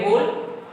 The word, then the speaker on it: whole: फिर ये WHOLE, होल, यहाँ भी W साइलेंट है, केवल होल बोला जाएगा।